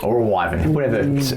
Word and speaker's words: wyvern: It is a wyven or a wyvern, whatever how you say it. Wyvern.